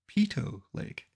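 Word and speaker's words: Peyto Lake: in baf national park by the way that should be Pito Lake it was Bill P not Bill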